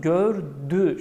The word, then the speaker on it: gördü: bakınız burada ne yazıyor gördü gördi şeklinde yazıyor ama biz bunu okurken nasıl okuyoruz gördü şeklinde okuyoruz peki neden gördi diye